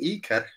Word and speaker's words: Ikar: Yeah, so the name Ikar. That's the way it's pronounced.